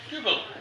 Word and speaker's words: Dubbel: dble duble duble yeah Dubble sounds like something that's that's a Flemish pronunciation he's using the so um yeah this